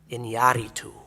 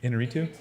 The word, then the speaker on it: Iñárritu: And if you were the filmmaker, I'm going to try and say his name right, Iñárritu. I think that's how you say it. Inarritu? Oh, that sounds terrible. I like mine better. Iñárritu.